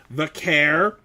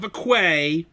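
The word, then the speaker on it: Vaquer: She also got to interview and basically really endorse Stephanie Vair, not Vquay as Nikki Bella mispronounced it.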